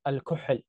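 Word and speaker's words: الكحل: It came from the Arabic word al-kuhl. It's like a h, but a lot deeper, like kh, like when you cough.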